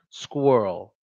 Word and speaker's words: squirrel: you see how I wrote it's good Earl squirrel squirrel that's how we say a squirrel school